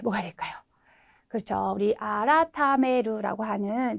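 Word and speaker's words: 改める: 우리 아라타메루라고 하는 네, 2번 단어를 발음을 골라주시면 되겠습니다.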